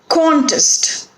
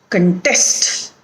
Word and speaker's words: contest: So we put accent or stress on the first syllable when the word is a noun or an adjective, and when the word is a verb, we put accent or stress on the second syllable.